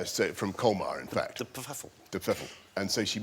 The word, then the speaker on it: de Pfeffel: Am I saying it right? Yeah, I think so. Well, nobody... Well, no, we don't know exactly how it's meant to be pronounced. That's how my grandmother wanted it pronounced.